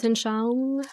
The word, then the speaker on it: Weltanschauung: The how do you pronounce that word? Weltanschauung, Okay, the thank you.